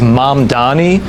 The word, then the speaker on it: Mamdani: I saw those comments from Mamdani. Mamdani. Can you repeat that? His name is Mamdani. I know you don't mean it this way, but when you mispronounce his name, it comes off as disrespectful.